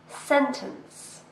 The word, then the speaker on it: sentence: This word has 2 syllables and we stress the first one. Sentence.